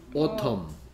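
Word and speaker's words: autumn: m t 그나 뭐 u u m m n n이 소리가 안 나죠 n이 오텀 오텀 또는 오럼 오 스펠링 잘 알고 있네요 케 뭔가 이상하긴 이상하다 싶었죠 n 소리가 안 난 거예요 그다음 윈 윈 w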